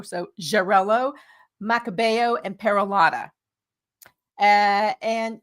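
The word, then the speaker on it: Xarel·lo: You referenced Jarello, which is spelled X A R E L O. So, Jarello, Makabo, and Peralada.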